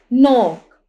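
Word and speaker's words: knock: यहां पर भी फसन इसी तरह नोक यहां पे के जो है साइलेंट है।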